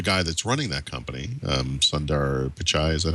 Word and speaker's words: Sundar Pichai: And now the guy that's running that company, Sundar Pichai, is that how you say his name? Sundar Pichai. Yeah, he's good. I'm sorry, is that the correct pronunciation? Yeah, Sundar Pichai.